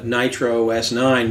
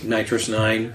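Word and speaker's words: NitrOS-9: we're right I guess I've always pronounced it nitro os9 because it's derivative of OS 9 and when it's written it's written with capital OS so but you know you could say nitrous 9 from this well I've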